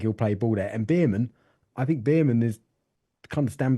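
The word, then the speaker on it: Bearman: I think it's definitely Behrman. Behrman, like is it bare chest?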